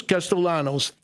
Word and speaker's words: Castellanos: Jesus Castellanos. Did I pronounce that right, Jesus?